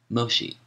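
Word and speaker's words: Mōshi: volume 1 MOSI footnote Moshi the Japanese pronunciation of the name of the Chinese philosopher meni whom Europeans call menus end of footnote says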